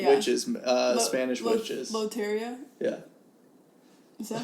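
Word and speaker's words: Lotería: Loteria?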